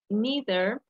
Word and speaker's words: neither: These have two pronunciations. I'm going to show you the pronunciation on the dictionary. For example, this is in the UK. Neither. Neither, Neither. neither, okay? But we can pronounce neither too in American, as you can see, neither. And here we have neither. So we have these two pronunciations. You can use any of them, neither or neither, but never neither, okay?